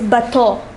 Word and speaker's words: bateau: The next word is bateau.